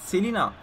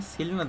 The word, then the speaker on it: Celina: Selina değil mi bu arada adamın ismi? Ben mi yanlış okuyorum? Evet. Celina'yı Selina diye okunuyor diye düşünüyorum.